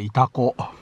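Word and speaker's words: 潮来: イタコ、漢字の読み方、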